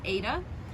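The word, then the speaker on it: ήτα: a long leg and it's like a long e in bed a in reconstructed and also including lucian some even say like a in late or even the letter eta and then in modern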